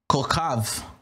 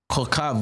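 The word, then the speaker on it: כוכב: And the stars are called Kokav. Kokav, which is translated K-O-K-H-A-V, Kokav.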